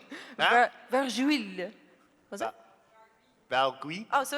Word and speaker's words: Vargouille: I have no idea how to pronounce this. Vargouille? Vargouille. Vargouille.